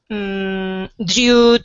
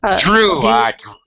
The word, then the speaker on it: drew: So, Drew. Drew. I didn't hear the R.